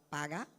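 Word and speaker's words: פגע: Mi La não sabe palabra quando pronuncia paga, em hebreu, P-A-G-A. pero esta palavra hebreu para intercessão, qual está paga. Dia diferente palavra para intercessão. Es Paga. la palabra para intercesión en hebreo. Se dice paga.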